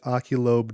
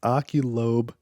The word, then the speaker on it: Oculobe: The first is Oculobe Drone. That's kind of hard to say, and I didn't say it right. It's Oculobe Drone.